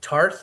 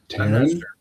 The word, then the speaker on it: Taryn: Is it Tarth or Tareth Terrell? Taryn Terrell. Yeah. It's a Y? Yeah, it's T-A-R-Y and Taryn Terrell.